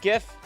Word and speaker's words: GIF: See, and Kevin says, for the record, it's pronounced GIF. It's pronounced GIF with a soft G.